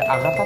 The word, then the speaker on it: 県: う漢字は訓読みであがたって読むんだよね。